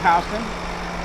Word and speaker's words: Houston: You can see the word, it's spelled Houston, but it's pronounced Houston.